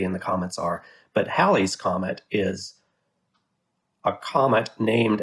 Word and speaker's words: Halley: if you're if you're inclined to pronounce it hayley's comet it's because you're confusing hallie the historical figure with haley in the comets a nice 1950s 1960s